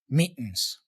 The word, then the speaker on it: meetings: see no more meetings so he's not really pronouncing meetings with a flap T here or even a truey like meetings he um he's using more of a glotto sound here this meetings meetings no more meetings